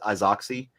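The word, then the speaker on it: Izaakse: in here or uh it's pronounced Isaac's but it you may know it as isoxy um he's a South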